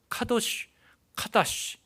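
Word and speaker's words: קדוש: 카다시라는, 거룩이라는 단어는 구별된다는, 카다시 이렇게 발음을 하는데요, set apart 한다는 말이에요.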